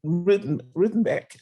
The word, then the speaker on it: Rutenbeck: And then, please correct me if I don't pronounce Rudenbeck. Is that correct? Yep. All right. So Rutenbeck, who was the filmmaker and is the filmmaker, and he's with us.